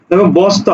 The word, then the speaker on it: বস্তা: হবে স্নান স্নান হবে বস্তা দন্তস এর সাথে যুক্ত আছে কি ত অর্থাৎ বস ত আকারে তা বস তা দেখো শ্লোক এর তালব তালবস